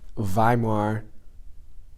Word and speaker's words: Weimar: thing occurred in the Weimar Republic I think it's pronounced like a V oh my the